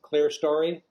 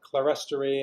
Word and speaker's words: clerestory: Some people pronounce it in a more like modern in the U.S. like modern stuff. People pronounce it clerestory. I learned clerestory as a historical term for this stuff, so that's what I use.